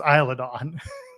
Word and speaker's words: Isla Dawn: in fairness to him, they also pronounce it wrong in Jurassic Park. this isn't Jurassic Park, damn it. But I mean, that's like so many people think it's pronounced Isla when they see it on a map because of that movie.